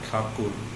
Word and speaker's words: Tagore: Although Rabindranath Thakur was his real name, but the title Thakur changed to Tagore during English pronunciation.